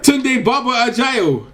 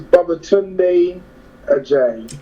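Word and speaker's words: Babatunde Ajayi: you've been watching, but that's not how you say my name. Oh, go ahead. My full name is Baba Tunde Ajayi. There you go, Baba Tunde Ajayi. For short, it's Tunde Ajayi.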